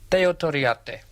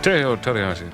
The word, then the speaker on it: Teo Torriatte: Now, Freddie, you pronounce it for me. Teo Toriate. Teo Toriati.